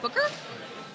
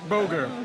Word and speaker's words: Boger: 20 for Booker? Boger. But Boger, yes, thank close you. enough. See, this is my handwriting. I'm That's sorry, the problem. Booger? What's it? It's Boger. It's a different pronunciation.